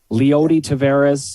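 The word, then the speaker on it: Leody Taveras: in the year he's only 30 roster meanwhile pronunciation alert lyoti tavares thank you uh and also uh you you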